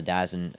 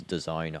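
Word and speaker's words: DAZN: Flashbang grenade just happened on the Dazzin uh thing for me. By the way, guys, I know I've been pronouncing it wrong the whole time. I know it's Done. I just like saying Dazzin a lot.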